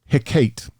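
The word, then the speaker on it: Hecate: and then there was in Greek culture uh hiate h e c a te and that's the way they pronounced it get more creative uh yeah um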